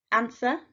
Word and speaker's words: answer: look at some examples answer we've got a silent w knowledge silent k doubt